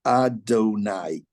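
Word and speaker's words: יהוה: Adonai. Yud, Hey, Vav, Hey. What is that? If we were to read it the way it's spelled, it's not Adonai, but it spells out Yehovah.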